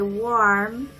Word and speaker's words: warm: So anytime they'll say warm, their mouth will open wider. So warm. And if they say worm, it's more of an O shape.